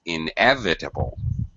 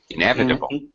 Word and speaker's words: inevitable: and by the way pronunciation inevitable second syllable stress inevitable inevitable inevitable in inevitable there